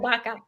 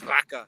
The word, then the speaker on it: vaca: Chris ate a lot of baka. What is that? Okay, tell us about it. It's just beef. Just beef. But so it's spelled VACA, but Yep. they pronounce it like With a B. Baka.